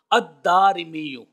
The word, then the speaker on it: الدارمی: اس کے بعد الف ہے، پھر را کے نیچے زیر اور پھر میم کے نیچے زیر ہے۔ الدارمی۔ اب یہ جو میں